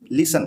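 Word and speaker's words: listen: लिसन लिसन मी सुनना तो इसमें टी साइलेंट है लिसन लिस्टन नहीं बोलेंगे इसको काफी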